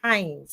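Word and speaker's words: Hains: Not Hines, not Hines, not Hines, Hines, H-A-I-N-S, Hines. Spell it, please. We spell it wrong. H-A-I-N-S. H-A-I-N-S. Okay, H-A-I-N-S, guys. Hines, not Hines. There's an A missing.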